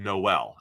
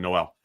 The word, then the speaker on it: Noel: latest I'm back and forth between nol and Noel we've heard both I heard danne Brugler said Noel and I like to defer to what danne said has I think danne is the pronunciation Authority when it comes to the NFL draft so I'll go with that Iowa State's Jaylen Noel